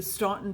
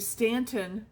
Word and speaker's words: Staunton: So, for uh my husband and I's anniversary, we went to Staunton, Virginia, and I'm sorry. We went to Stanton, Virginia. I always pronounce that wrong.